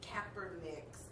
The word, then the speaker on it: Kaepernick: But what's interesting is that we've seen over the last few weeks the fallout from Kaepernick's.